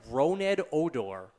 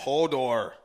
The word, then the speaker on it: Odor: we cannot pronounce and I asked several people apparently red odor is the best I can get Hodor no it's not Hodor then I have I